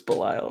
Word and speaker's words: Belial: It's Belial? B-E-L-I-A-L. Belial, yeah.